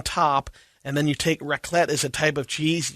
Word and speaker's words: raclette: right and it's and it's called what again reclip raclette okay i'm going to find out what the hell it's spelled with a q i'm guessing no it's